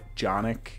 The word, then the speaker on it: Jonik: Jonik is a kind of different name. It rhymes with Sonic and it starts with a J.